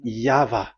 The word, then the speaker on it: Yahvah: Pronunciation is equal V. It is V. Y H V H. So it is YAHVAH.